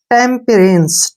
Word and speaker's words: temperance: और ई का उच्चारण हम नहीं करेंगे क्योंकि लास्ट में जब भी ई आता है उसका उच्चारण नहीं होता है। तो इसको हम पढ़ेंगे टेम्परेंस, ठीक है ना।